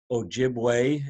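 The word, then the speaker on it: Ojibwe: Ojiway is the proper uh pronunciation in the Inishab. Um in the Ojiway language, uh the E has a sound like a.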